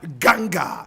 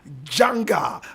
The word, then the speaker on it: Janga: they renamed the Angola Ganga. Angola Ganga. Janga. Angola Janga. Janga is spelled Janga. Angola Janga.